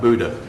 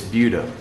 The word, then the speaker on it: Buda: You've lived here too long to call it Buddha. It's Buda.